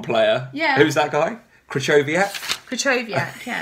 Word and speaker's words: Krychowiak: Krychowiak, yeah. Right, people actually. Saying, well done, Sam, you've got the pronunciation spot on.